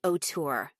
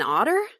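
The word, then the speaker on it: auteur: Do you mean an otter? I asked confused at her pronunciation. Why would I mean otter? Brit snapped. An otour is a filmmaker as in screenwriter and director.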